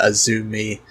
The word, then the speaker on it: AZM: to queen's quest is azumi uh that is how her name is pronounced although it's spelled as azm she is uh one